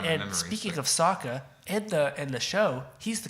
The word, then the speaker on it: Sokka: The other main characters, Sokka. They call him Soka. Yeah. And there's more too. I can't think of any because I've blocked it out of my And memory. speaking of Sokka, in the show, he's the comedy relief character.